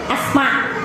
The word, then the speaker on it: Asma: asiddi Bu asmaobun Dina bahasa Arab kum nyerat Alif mim asma tah gitu jadi ejaan bahasa Arabnya mah Alif mim Alif teras Aya C aanten Kana bahasa urang mah asma jadi Jiga Henteu Aya alifan n p soalna Kagok lamun nyebutkeun Dina ejaan urang asmaa atanapi asmau janten Asa teu pantes kitu maka dengan ejaan urang